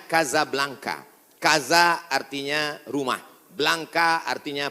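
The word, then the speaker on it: Casablanca: nama negaranya Maroko ibuotanya tulisannya Casa Blanca cara bacanya kazablanca Kaza artinya rumah Blanca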